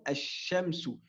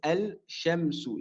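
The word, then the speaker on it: الشمس: On dira, mathalan, ash-shamsu. Donc ici, je n'ai pas prononcé le lem. Je n'ai pas dit al-shamsu. J'ai dit ash-shamsu.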